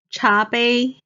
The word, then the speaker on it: 茶杯: 超市超市 Next, 茶杯 means the cup. 茶 is the second tone. 杯 is the first tone.